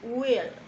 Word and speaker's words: will: mismo es el verbo will. La pronunciación will requiere que la I se pronuncie un poco como E y que haya una fuerte entonación en las letras L.